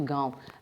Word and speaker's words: गाँव: अभी गाँव का उदाहरण देखिए, गाँव के ऊपर से चंद्र बिंदु को हटा दिया जाएगा अनुनासिक को, तो कैसे बोला जाएगा? गाँव। ये अशुद्ध उच्चारण है, इस पर चंद्र बिंदु आने पर ही ये शुद्ध उच्चारण होता है, गाँव।